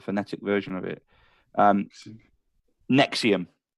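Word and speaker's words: NXIVM: version of it um Nexium Nexium so it's it's spelled NX IVM but pronounced Nexium so it's it's been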